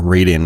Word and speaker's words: Raiden: I like to go back and play stuff like Twin Cobra or Raiden, or Raiden, as some people might pronounce it in North America.